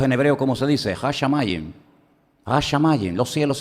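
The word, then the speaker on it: השמים: Hashamayim.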